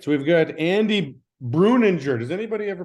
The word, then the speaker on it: Breuninger: Breuninger is the correct enunciation. Yeah, Breuninger. But so nobody, the N is silent.